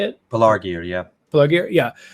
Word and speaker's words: Pelargir: Pelargir, yeah.